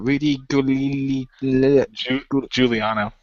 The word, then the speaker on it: Giuliani: How do you pronounce it? Rudy Giuliano.